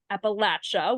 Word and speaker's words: Appalachia: And so Trisha, you track opioid settlement developments across the 13 states of Appalachia, which you're really great in telling me that I how to pronounce that, Appalachia.